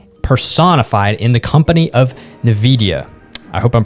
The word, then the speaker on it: Nvidia: future of gaming personified in the company of navidia i hope i'm pronouncing that right and they have just launched